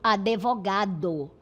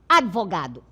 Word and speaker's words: advogado: Então, por exemplo, eh as pessoas na fala a maioria pronunciam advogado, certo? Mas o correto é sem esse e aqui intercalado, certo? Você vai pronunciar advogado, OK? Sem esse e não é advogado, é advogado. Bem rápido aqui, sem uma vogal.